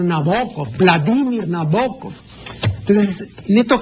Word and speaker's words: Nabokov: pues es stendal no la gente dice nabokov no es nabokov sino nabokov Vladimir nabokov entonces en